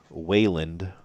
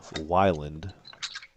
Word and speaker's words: Weyland: brother ben explaining that most folks pronounce it wayland instead of wyland which is a point